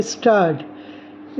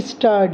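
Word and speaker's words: Gstaad: हम जा रहे हैं स्टार्ट स्टार्ट वैसे तो स्पेलिंग आप देखोगे तो जी स्टार्ट है लेकिन जी साइलेंट है इसलिए इसे स्टार्ट बोला जाता है इसके बड़े में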